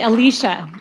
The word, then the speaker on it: Alicia: I'm going to say her name right. It's actually Alicia. Alicia. Did I get it right?